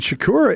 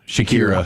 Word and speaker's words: Shakira: And Shakura is a I say her name wrong. Shakura. Shakira.